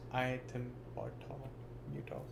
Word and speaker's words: ethambutol: Pronounced iethambutol.